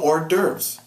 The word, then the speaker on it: hors d'oeuvres: No, they serve you hors d'oeuvres. You don't pronounce it just the way you spell it because it comes from French.